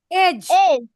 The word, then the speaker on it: edge: Edge. Edge. If you pronounce it, it should be just like E-A-G-E. Edge.